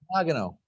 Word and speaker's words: Nagano: Nagano, actually.